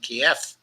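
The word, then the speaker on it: Kyiv: the war by taking Keith and shutting down their government which would mean that we would again use the Russian pronunciation Kiev in referring to that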